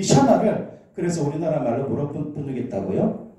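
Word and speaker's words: שמע: 이 청종하라는 이 히브리어 단어는 샤마라고 읽는데, 샤마, 이게 무슨 뜻이냐면 듣다라는 단어입니다.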